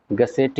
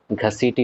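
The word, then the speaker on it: घसीटी बेगम: सी line लगी थी एक नाम आप लोगों ने सुना होगा गसेट बेगम जल्दी जल्दी में इस नाम को जनरली प्रोनाउंस करते हैं लोग घसीट बेगम ठीक है ये आपके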